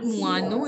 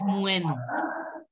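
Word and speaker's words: moineau: Try to pronounce it as muenu. Not muanu, it is muenu.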